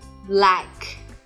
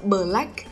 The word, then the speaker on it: black: phụ âm kép b, black. Các bạn biết không? Phụ âm kép này các bạn càng đọc gần nhau bao nhiêu thì nó sẽ càng tự nhiên.